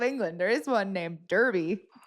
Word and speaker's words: Derby: There is one named Derby. No, it's Derby. Yeah. But it used to be spelled with an A like years and years